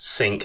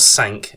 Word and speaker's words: Cinque: Those courses being Royal St George's and Royal Cinque. A side note here, Cinque is spelt C-I-N-Q-U-E-S, but it is pronounced sink as in the kitchen sink, not sank as in the French for the number 5.